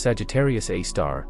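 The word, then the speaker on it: Sagittarius A*: In our own Milky Way galaxy, astronomers focused on a radio source called Sagittarius A, pronounced Sagittarius A star, located at the galactic center.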